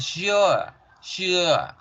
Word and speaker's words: sure: La palabra sure, que ya aprendimos que no es sure, sino es con la Z alargada. Sure, sure, sure, sure, sure, sure, sure.